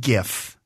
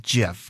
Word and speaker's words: GIF: you pronounce that well I've always said gif but I know it's supposed to be Jeff because I always pronounce it wrong is that correct yeah